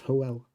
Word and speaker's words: Howl: but the name Howl, it shouldn't actually be pronounced Howl, it should be pronounced Hoel, which is an incredibly Welsh name.